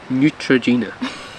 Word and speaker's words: Neutrogena: over Neutrogena Neutrogena guys Neutrogena that's how you say it it's Neutrogena no neutr you were